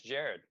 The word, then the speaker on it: Jared: It's Jared. It's Jared. Yeah. You want to spell it? It's like Gerard. So it's Jerrod.